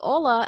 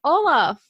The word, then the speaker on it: Ola: Yeah, you know, it's actually funny because my name is Ola, but like in Arabic, it's pronounced Ola.